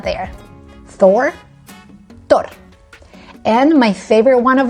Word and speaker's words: Thor: Thor. We just swallow the H and we don't pronounce it. We pretend it's not there. Thor.